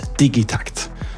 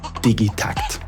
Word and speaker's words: Digitakt: a combination of two Swedish words digital and tact that becomes digit TCT so anyone who says digit TCT they're just making things more complicated so please embrace your inner toddler and say it with me digy TCT with that that the